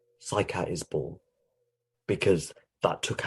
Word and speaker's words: Saikat: So my name, Saikat, or Shoikot, as it's pronounced in Bengali, means the seashore.